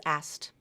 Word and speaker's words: asked: it's just my preference the word asked has a s asked SKT so that middle consonant that K is often dropped and it's pronounced as asked I asked her I asked her to do it yesterday I I asked her Aster asked asked instead of asked okay so you can simplify that one take the K out